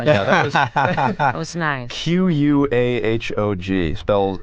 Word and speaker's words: Quahog: Quahog. It's spelled nothing like it sounds. Looks like quahog.